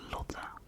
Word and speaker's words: Lotte: So how you pronounce it, like how my parents meant it is Lotte, which is a very common name in the Netherlands.